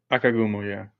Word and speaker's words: Akagumo: Anyway, I get to have on the wonderful Akagumo. Is that how you say it? Akagumo, yeah.